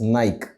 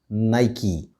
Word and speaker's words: Nike: using it too but there are many of us who still pronounce it as nike but the right way to pronounce this brand name is nike so next time you